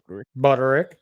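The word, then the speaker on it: Budarick: Buderick? Buderick.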